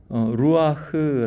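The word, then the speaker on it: רוח: 여호와께서 이 뼈 들에게 이같이 말씀하시기를 내가 생기를 루아흐 라고 했죠 루루 누 루 아 흐 이렇게 우리말로 루 아 그 이렇게 발음입니다 어 성령 이라고 지칭되는 단어 이고요 그리고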